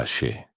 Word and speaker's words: Aise: Para que un ritual sea eficaz, debe movilizar una fuerza fundamental llamada Aise, pronunciada Ashe.